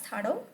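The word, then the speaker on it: Thadou: Thado, you can even pronunciate it as Thado or Thadu.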